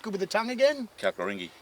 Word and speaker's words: Kalkaringi: It's just, How do you pronounce it? Because I'm not good with the tongue again. Kalkaringi. Kalkaringi.